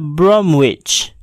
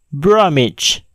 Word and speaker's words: Bromwich: yaitu pada kata berikut kata ini tidaklah dibaca Bromwich tetapi dibaca image bromage hunkwe tidaklah dibaca tips